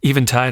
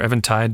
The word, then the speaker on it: Eventide: I love Even Tide or Evan Tide, depending upon how you want to uh, pronounce it.